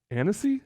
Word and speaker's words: Annecy: Annecy? Is that how you pronounce that?